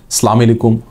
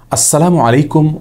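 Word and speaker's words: السلام عليكم: দ্বিতীয়ত যে ভুলটি আমাদের হয়ে থাকে তা হলো বিকৃত এবং অশুদ্ধ উচ্চারণে সালাম দেওয়া। অনেকে সালাম আলাইকুম, অনেকে সালাম আলাইকুম এরকম বিভিন্ন বিকৃত উচ্চারণে সালাম দিয়ে থাকেন।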